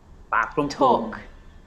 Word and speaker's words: talk: no knock not knowledge the letter l can be silent too and it's quite common